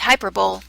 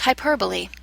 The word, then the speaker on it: hyperbole: It looks like hyperbole, but it's actually pronounced hyperbole.